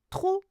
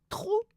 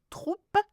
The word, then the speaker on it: trop: Vous avez bu trop de soda. Intensifier means to much. OK. Troupe, we don't say, we say trop. So, don't pronounce the P, but write it down.